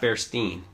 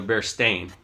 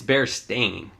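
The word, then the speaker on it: Berenstain: It's spelled Bearstain. Not Bearstein. Wait, so they're not Bearstein? No, they're Bearstain. What? Yeah, so we remember Bearstein. It's Bearstain.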